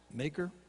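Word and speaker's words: Machir: of amiel son amiel's son how do you pronounce that blake maker maker at low to bar that's a mouthful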